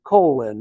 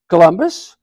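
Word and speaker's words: Colón: captain colon Captain Christal colon Master of the Santa Maria At Your Service he gave a bow Santa Maria colon a bit confused Columbus is the English pronunciation of my name you are Columbus Christopher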